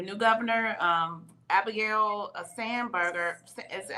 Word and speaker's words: Spanberger: the governor, the new governor, um Abigail uh Spanberger, is that how you say her name? Signed Yes. Spanberger.